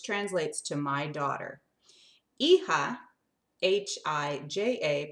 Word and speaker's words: hija: Hija, H-I-J-A, pronounced hija, means daughter. Hija. Can you say that? Try it. It's really easy. Hija. It's like the letter E and then like kind of a ha ha ha.